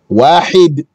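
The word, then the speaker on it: واحد: You have to say the ha, wahid.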